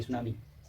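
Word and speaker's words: tsunami: eight सुनामी अच्छा हा सुनामी में टी साइलेंट होता है टी एस यू एन ए एम आई सुनामी और सुनामी माने सुनामी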